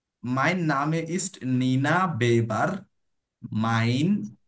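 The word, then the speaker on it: mein: মাইন, ই আই একসাথে থাকলে আই এর মতো উচ্চারণ হয়, আমরা উচ্চারণের রুলস পড়েছিলাম।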